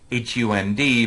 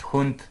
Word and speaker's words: Hund: So in German, the word for dog is spelled H-U-N-D, but is pronounced Hund.